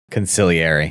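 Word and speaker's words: consigliere: Is that how you pronounce it? Consiliary.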